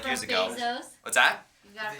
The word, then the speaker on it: Bezos: Bezos. What's that? You got it from Bezos. It rhymes with Blef Schmezos.